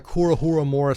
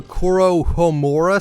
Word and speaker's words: Kuro Homura: got to talk about the kuru huramura skin which is how i pronounce it i know it's not technically pronounced that way the skin is technically called the kuro homura skin but i like calling it kuro huramura just because i